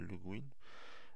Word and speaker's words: Le Guin: Alors, il y en a qui prononcent Le Guin, mais elle voulait qu'on l'appelle Le Guin.